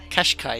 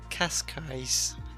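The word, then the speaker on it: Cascais: casai kashk kashk kashk Kash Kai it's not it's not the car it's Kash casai you're saying like n kashy or something unbelievable people here to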